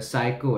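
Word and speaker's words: psycho: क्या कहते हैं उसको, साइको है, वो अब PSY है, स्पेलिंग उसकी PSY से स्टार्ट होती है, S से नहीं होती।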